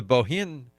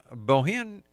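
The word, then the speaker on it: Bohinj: The Bohin Wildflower Festival, Bohin has a J at the end of it. No, that's like Bjorn.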